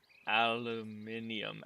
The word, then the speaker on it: aluminium: You guys say it, if I remember right, it's like aluminium.